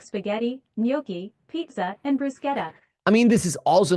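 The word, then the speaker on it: bruschetta: you question I like spaghetti noi pizza and brusketta I mean this is also not truly native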